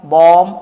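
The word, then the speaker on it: balm: यहाँ L silent है। ठीक है, क्या हो जाएगा? ये आमंड, कॉम, पॉम, बॉम और ये सैमन। क्या हो जाएगा? ये सैमन हो जाएगा।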